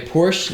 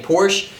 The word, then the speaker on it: Porsche: tell me but also i'm trying to get myself to start saying porsche because i've read somewhere that that's how it's supposed to be pronounced but my entire life i've been saying porsche and so you're going